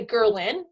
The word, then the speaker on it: ghrelin: that, and that's the ghrelin, which if you think of growling, to remember it, ghrelin, growling, is the hormone that makes you hungry.